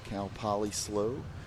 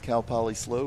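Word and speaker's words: Cal Poly SLO: Um, but they're, you know, they just shorten it to S L. So they're always known as CalPoly slow because it's so much harder to say the the whole Cal California Polytenic State University St.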